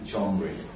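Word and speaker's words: genre: শুনছি জনা লিখো জি ই এন আর ই জনরে জনরে কিন্তু জন হবে কি জনার এনি জনার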